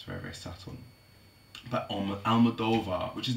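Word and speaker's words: Almodóvar: interested in that it's very very subtle but almodova which is not aloda because um I've been pronouncing it wrong all the time it's ala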